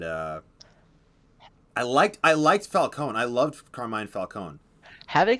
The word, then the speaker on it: Falcone: i also like that they got the pronunciation right finally because falcone caliconi alconey about cone because it's supposed to be a lot more like falcon and i like that